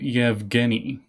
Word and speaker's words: Yevgeny: But they're supposed to be pronounced Sholdar and Yevgeny.